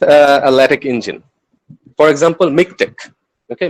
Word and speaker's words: MiKTeX: okay miktek or it it is pronounced in various ways it can be pronounced with nick tech it can be pronounced in mic tech or make text or mic text i have i have uh i have heard a lot of different variations so i'll just i'll